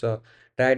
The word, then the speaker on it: trie: अ ट्राई pronounce as ट्राई और prefix ट्री इज़ अ ट्री data structure used to efficiently स्टोर एंड रिट्रीव keys in data sets of strings.